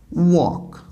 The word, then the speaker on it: walk: Al is silent in it and it is pronounced as walk now how can we know that non-native speakers